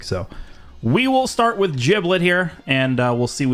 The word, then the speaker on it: Giblet: I think I think it actually is pronounced with a like a jib sound not not a Gibb sound I think it's actually giblet freeo play giblet uh